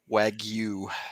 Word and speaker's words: Wagyu: Wagyu.